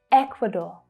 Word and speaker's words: Ecuador: Ecuador, Ecuador. So can you hear that stress? It's on the first syllable. Ek, equa, Ecuador. So that last syllable is the or as in door vowel sound.